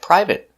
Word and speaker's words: private: are never verbs so they're always pronounced with the it short it sound like private certificate chocolate corporate and immediate let's take a closer